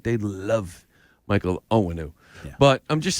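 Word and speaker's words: Onwenu: Michael, okay, I don't want to pronounce his name wrong, Owenu? Yeah, Owenu.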